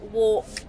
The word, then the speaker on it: walk: One that I've noticed quite a lot is the pronunciation of walk and work. People struggle with a little bit, and it's a hard one to teach because they are similar, but obviously very different meanings.